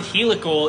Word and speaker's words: helical: And yes, the word helical is pronounced exactly the way I say it, by the way.